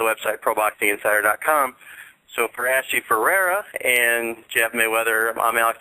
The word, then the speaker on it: Ferrara: It's actually it's pronounced or it's spelled F E R R A R A, but it's pronounced Ferrer.